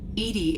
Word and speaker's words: EDI: have a specific inquiry why are you named Edy Edy is the phonetic pronunciation of e di that is an acronym